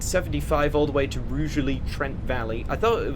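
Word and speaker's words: Rugeley: Um, yeah, we're now at 75 all the way to Rally Trent Valley. I thought it was originally pronounced Ruggly Trent Valley. No, it isn't. It's pronounced with a soft G, apparently.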